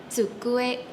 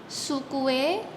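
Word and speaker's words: 机: Bahasa Jepangnya adalah cukue. Cukue. Jadi bukan suku tapi itu adalah perbedaan huruf su dan cuu.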